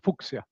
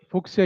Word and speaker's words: Fuchsia: They pronounce it Fuchsia, but they pronounce it the Latin way, Fuchsia.